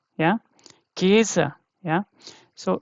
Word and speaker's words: Käse: Yeah, so this is called Käse, Käse. Yeah, Käse. Yeah, so this is long, you can see very easily, right?